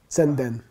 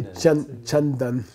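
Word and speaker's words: ཙན་དན: Senden. Senden. Senden, which is really chandan. If you want to mispronounce Sanskrit.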